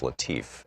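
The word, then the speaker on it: Latiff: Our book today is Future War, Preparing for the New Global Battlefield by Robert, I believe it's pronounced Latif, L-A-T-I-F-F.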